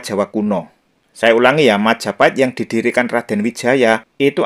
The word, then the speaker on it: Majapahit: ke persoalan nomor dua yang benar Majapahit atau Mojopahit nah yang mengatakan yang benar Mojopahit itu mungkin mereka belajar sejarah itu berdasarkan cerita ketoprak ya kalau di panggung ketoprak memang pengucapannya itu mojoahit misalnya penyebutan seperti ini ya